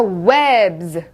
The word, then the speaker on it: webs: 자, webs, webs, 거미줄이죠. webs, Z 소리가 나는 거 들리시죠?